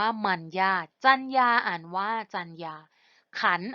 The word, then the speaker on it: มรรยาท: กน นะ คะ ค่ะ คำ แรก คำ ว่า มรรยาท อ่าน ว่า มัน ยาก จรรยา อ่าน ว่า จรรยา